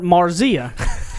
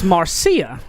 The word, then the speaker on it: Marzia: Her and name I've always called her Marzia. And so I found out today it's Marcia, right?